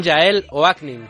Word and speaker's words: Yael Oaknin: Hablamos ya en Tu Dinero Nunca Duerme con Yael Oaknin. Creo que lo he pronunciado bien, Yael.